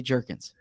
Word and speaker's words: Jurgens: company called beef jerky there was questions on draft night about the pronunciation of his name whether it's jurgens or jurgens it is definitively jerkins now i don't know